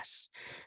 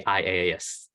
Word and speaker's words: IaaS: If I choose this one, which you wouldn't pronounce as letters, you'd actually pronounce as a word. So you pronounce it as IS, right? Sounds weird, but that's how you pronounce it. Same with the other one, PAS and SAS. That's just how you pronounce it. Don't say IaaS, a bit funny.